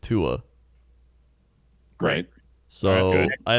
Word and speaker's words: Tua: It's pronounced as it is spelled, Tua.